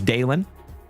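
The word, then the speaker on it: Dalen: My name is Dalon. D A L E N, like Dale plus N.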